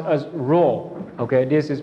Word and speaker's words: Rho: another Greek letter okay another Greek letter is pronounced as Rho okay this is pronounced as wrong so Rho